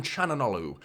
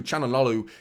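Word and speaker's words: Çalhanoğlu: say quickly isn't it that's one of those names that you CH like that isn't it anyone who struggles with pronunciations you just go CH like that don't you chanal I think it's how you officially hakan chanal is I think how you officially pronounced that but mkhitarian as well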